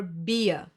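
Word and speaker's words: Bier: similar but completely different i e i e will be pronounced like a long slow e like for example in Chi another German the tong a few more examples for this sound would be Li to love or beer beer is beer and this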